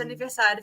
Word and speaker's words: aniversário: Feliz de aniversário. Feliz Feliz. aniversário. Aniversário. It's like anniversary, but aniversário.